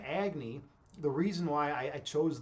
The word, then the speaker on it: Agni: So when I went into philosophy, I was like, I started reading about Agni, and I was like, or it's actually pronounced Agni, but I call myself Agni.